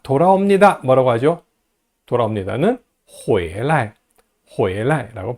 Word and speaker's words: 回来: 돌아옵니다는 回来, 回来라고 발음합니다. 성조 주의하세요. 발음 할 때요, 요 방향보호는요, 언제나 항상 경성으로 발음합니다. 回来하고 길게 뽑지 말고 回来라고 발음하세요.